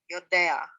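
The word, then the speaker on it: יודע: Notice that the ayin here has a batak underneath, so you say it Yodea.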